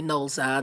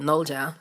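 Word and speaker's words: Nolza: It's really Noah the way that it's spelled, but Noja, which means play, and follow up with the studio album Collection 2012 and Crush 2014.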